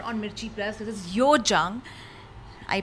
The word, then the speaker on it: Hyojeong: So, welcoming her on Mirchi Plus, this is Hyojeong. I pronounced her name right?